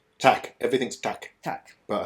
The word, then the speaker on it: Takk: Takk.